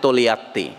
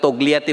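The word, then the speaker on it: Togliatti: সহকর্মী যার নাম হচ্ছে তোলিয়াত্তি ইংরেজিতে পড়ার সময় আপনারা তোগলিয়াতি বলেন ইটালিতে ওই জি উচ্চারণ হয় না উচ্চারণটা হয় তোলিয়াত্তি টি ও জি এল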